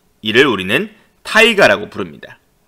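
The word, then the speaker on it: тайга: 빽빽한 쏙 이를 우리는 타이가 라고 부릅니다 이 타이가 아닌 러시아 시베리아의 울창한 침엽수림 들을 일컫는 러시아 입니다 현재 러시아 현지 발음을 하면 따위가 요 겁니다 따위가 침엽수 는 같은 종류의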